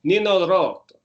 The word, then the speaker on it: Nino Rota: Another good thing that came was Nino Rota, who wrote, Nino Rota is how I'm supposed to pronounce it. I Rota, like an American. But Nino Rota is how the Italians would pronounce it.